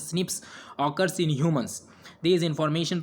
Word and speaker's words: SNP: snps single nucleotide polymorphism pronounced as snips occurs in humans this